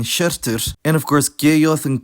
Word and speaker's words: hjörtur: To finish the digraphs, there's how yoth for sh, like in shirtur, and of course geyoth and kauyoth now say ge and ke respectively, as mentioned earlier.